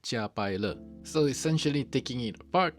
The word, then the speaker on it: Jiapaile: Yes, it is pronounced Jiapaile.